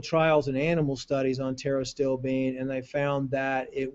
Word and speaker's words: Pterostilbene: Pterostilbene is how you pronounce it.